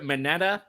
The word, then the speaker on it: Manetta: So we're getting set for this weekend's big fundraiser for, is it Ryder Manetta? You got it.